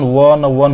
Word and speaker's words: one: पर एन लगाने खोजेगा, लेकिन वन का प्रोनाउंसिएशन वन होता है, वो यानी कि इंग्लिश में वाई या हिंदी में वो, तो ये तो एक व्यंजन है, यानी कि एक कॉन्सोनेंट है, तो कॉन्सोनेंट साउंड निकाल रहा है ना, इसीलिए